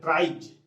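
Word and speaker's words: tribes: तो देखिए इसका उच्चारण हम कहां करेंगे, यदि किसी शब्द के अंत में BE, G, double G, OE, IE, double E, Y हो उसमें एस लगा हो, उसमें क्या लगा हो एस लगा हो तो उसका उच्चारण ज होता है। यानी कि किसी शब्द के अंत में इन सारे वर्ड्स, इन सारे लेटर में से कोई हो उसके बाद यदि एस लगा हो तो उसका उच्चारण ज होगा।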